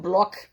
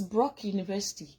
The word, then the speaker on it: Brock University: I'm like, is it Block or Brock? She said, no, it's Brock University.